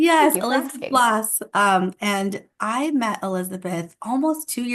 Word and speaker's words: Blass: learned that I have been saying her last name wrong. So it's Blass, right, Elizabeth? It is. I wouldn't have corrected you. I've heard it my whole life. I don't even notice. But yes, it is Blass.